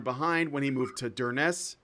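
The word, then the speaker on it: Durness: when he moved to der Ness is how you say it yeah Dern s okay one of the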